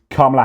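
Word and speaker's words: Kamala: up shakes his hand says KLA Harris that's how you say my name KLA Harris Let's Have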